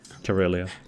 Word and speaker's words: Karelia: I don't even know how to pronounce it in English. Karelia.